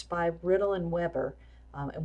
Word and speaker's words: Weber: It's by Riddle and Weber, and we actually do pronounce this one Weber.